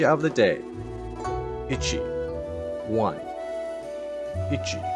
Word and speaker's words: ichi: let's try that again this is pronounced itchy think itchy itchy like something's itchy itchy balls try to forget that one kanji of the day itchy one ichi you